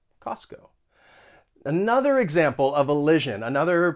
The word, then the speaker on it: Costco: or syllables are removed so in this case the t is removed you're not gonna you're not gonna pronounce that t costco and the reason for that is that when the t comes between two consonant sounds it it may allied and it just gets removed costco costco another example